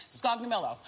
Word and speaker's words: Scognamillo: last name how do you say it okay scoggy mellow my gosh she's perfect celebrities love patsies who